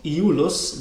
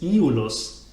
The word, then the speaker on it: Iulus: is pronounced Iulus, but in fact it is Iulus. This extra syllable, this short syllable E, is a syllable of its own, Iulus, not Iulus.